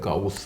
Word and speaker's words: Gauss: Gauss, vous le prononcez peut-être Gauss en allemand.